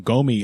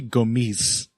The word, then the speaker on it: Gomis: Gomis is a guy Actually, it might be Gomis. For some reason, he's the only Frenchman who pronounces the S on the end of his name.